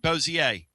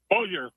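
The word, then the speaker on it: Bossier: Am I pronouncing that right? Boiseier. Boer. Boer.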